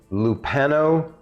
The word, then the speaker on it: Lupano: the second person uh on their team is lupano ubet that's l-u-p-a-n-o and then ubet is u